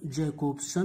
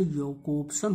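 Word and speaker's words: Jakobson: तो Roman जैकोब्सन, pronunciation योकोब्सन होता है, जे का या करते हैं, Roman योकोब्सन, Russian formalism, modern structuralism, Ferdinand de सॉसोर provided model for stylistics.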